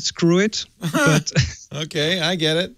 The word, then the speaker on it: Skrwt: w squir i i I think they want they want they want to pronounce It screw it but okay I get